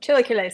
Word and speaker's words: chilaquiles: My understanding of the picture I saw is these stay crispier than like in chilaquiles. I always pronounce that wrong. Chilaquiles. You gotta say it fast.